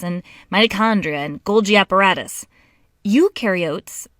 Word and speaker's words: eukaryotes: mitochondria and golgi apparatus eukaryotes the u rhymes with do they do have membrane-bound